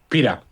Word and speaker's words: Pita: Is your last name pronounced Pita or or Pita? Pita. Pita.